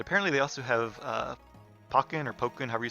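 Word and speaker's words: Pokkén: are fighting is it the pokey and tournament or the parking tournament um but i just i don't i i guess pokken is how i'm going to pronounce it all right let's change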